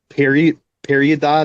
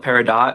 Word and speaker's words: Peridot: Certain people will call it Peridot, which is the correct pronunciation, but Okay. I heard a lot of people say Peridot, so I just kind of roll with it.